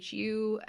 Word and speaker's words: choux: from choux pastry so in Japanese it's just Shu in the original French its CH o UX